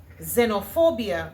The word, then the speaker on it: xenophobia: The other X word is xenophobia. And of course in English it sounds like a zed.